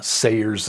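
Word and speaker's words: Sayers: should use the Dorothy Sers translation. Sers is spelled S A Y R S.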